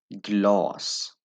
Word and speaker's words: glas: inne, vatten, vatten, vatten, glas, glas, glas।